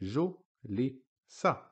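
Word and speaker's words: جُلِسَ: So, again, on the jim, we have the dhamma short vowel, which makes ju. On the lam, we have a kasra, which makes li. On the sin, we have fatha, which makes sa. We combine them together again, we get ju, li, sa, julisa.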